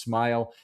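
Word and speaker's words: Smael: Now, Smile Mondon was a linebacker that you you'll remember his name from the draft a couple years because it looks kind of like SM, but it's pronounced Smile and he was on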